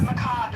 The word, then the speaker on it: macabre: You're just you're a macabre uh person who's interested in death. Macob is how you pronounce it.